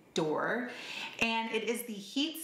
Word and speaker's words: Balm D'Or: It is called Balm D'Or, and that's how you pronounce it, D'Or.